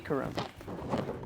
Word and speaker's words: Karroum: Okay, how to pronounce Karroum. Karroum.